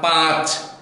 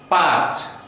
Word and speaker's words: পাঁচ: আমরা অনেকেই বলি, আমাদের অজান্তে এটা হয়ে থাকে, চাঁদ পাঁচ, এ ধরনের উচ্চারণ কিন্তু শুদ্ধ নয়। আমরা শুধু চয়ের উপরে চন্দ্রবিন্দু আছে আমরা বলো চাঁদ, দতে কিন্তু চন্দ্রবিন্দু বা নাসিক্য আসবে না, পাঁচ পাঁচ।